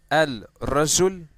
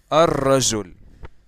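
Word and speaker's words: الرجل: So instead of saying al-rajul, okay, like that, we're going to say ar-rajul. Ar-rajul. Okay? Ar-rajul. So what happened is that I skipped that letter by not pronouncing it, and the whole word became just like that. Ar-rajul. Okay, so I skipped that letter and I didn't pronounce it, and I pronounce the letter which is right after it, and at the same time I doubled it.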